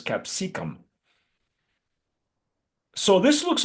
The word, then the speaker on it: capsicum: It's not capsaicin, so it's capsicum.